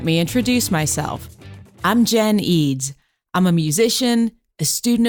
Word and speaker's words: Eads: And Eads is spelled E-D-D-S. I know the spelling goes against any and all pronunciation rules you've ever learned. So I promise I won't get mad if you say Eds.